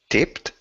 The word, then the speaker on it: tipped: Tipped? Yes, tipped, and very good at the pronunciation as well. Tipped. So it's kind of like the pronunciation, of course, is like T-I-P-T. So tipped.